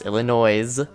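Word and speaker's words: Illinoise: comes from called Illinois's yes Illinois's pronounce the S it's from 2005 and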